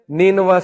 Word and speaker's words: نینوا: تو عدس نے کہا کہ میں نینوا سے ہوں. نینوا اس کا تلفظ ہے NINEVEH.